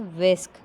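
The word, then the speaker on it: whisk: It's pronunciation is विस्क।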